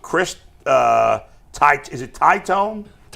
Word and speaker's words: Titone: Is it Tyone? Titone, I believe, is how it's pronounced.